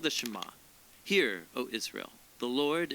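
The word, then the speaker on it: שְׁמַע: is hear or listen which in Hebrew is pronounced shama that's where the prayer gets its name now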